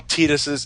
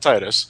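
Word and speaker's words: Tidus: You know, a lot of people a lot of people got on Tetus's that's how that's how his name is pronounced, by the way. It's Tetus, not Titus.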